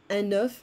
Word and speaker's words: œuf: Un œuf, like the number 9, un œuf, des œufs.